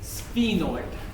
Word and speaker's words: sphenoid: It's called a sphenoid bone. How do you spell that?